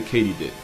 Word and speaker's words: katydid: actually crickets they're a sub family of the katydid which is apparently how you pronounce it not only was i wrong but